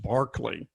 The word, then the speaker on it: Berkeley: His name's spelled Berkeley, but it's pronounced Barclay.